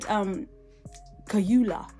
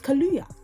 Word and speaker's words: Kaluuya: He said Kaluuya, and it's Kaluuya. Yeah?